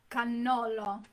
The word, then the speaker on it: cannolo: And Cannolo. cannolo? Cannolo. The Americans say cannoli. Mm-hmm. Cannoli. Yeah, well, cannoli is plural for cannolo. Cannolo is just one. And you have to double your N's.